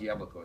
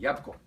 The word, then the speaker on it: jabłko: The only one that isn't consistent, I discovered, is the word for apple, which is jabłko, is not pronounced jabłko. It's pronounced jabłko. Jabłko. So there are some sounds that disappear in Polish.